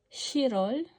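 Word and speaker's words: 시월: Tandaan yung pronunciation ng Chirol. Chirol ay July. Shirol ay October.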